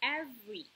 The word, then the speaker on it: every: Okay, again, let's read again this word and every. Every. Okay, so every. Yes, we don't usually pronounce the letter E sound.